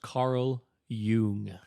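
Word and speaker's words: Carl Jung: yeah yeah so it's going to be pronounced Carl Yung oh oh [ __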